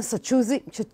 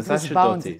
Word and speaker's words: Sacerdoti: נמצא איתנו כאן הכתב או העיתונאי העצמאי, קומנטייטר באנגלית, ג'ונתן סצ'ודי. I told you I'll mispronounce it. זה בסדר, זה סצ'רדוטי, סצ'רדוטי. סצ'רדוטי, okay.